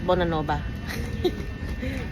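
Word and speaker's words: Bonanova: Pero dito guys, it's Bonaanova. Hindi pino-pronounce ang V.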